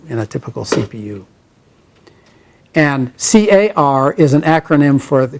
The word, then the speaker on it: car: rest of the list now car is pronounced car and cdr is just